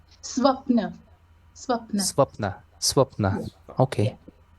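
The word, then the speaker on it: स्वप्न: Uh, how do you pronounce swapna? Swapna.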